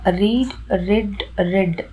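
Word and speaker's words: read: இதை நம்ம ரெட் அப்படி தான் ப்ரொனவுன்ஸ் பண்ணணும். இப்போ எக்ஸாம்பிள் பார்த்தீங்கன்னா ரீட், ரெட், ரெட்.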